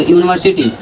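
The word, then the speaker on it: university: तो यूनिवर्सिटी का उच्चारण कर रहा है यू आ रहा है।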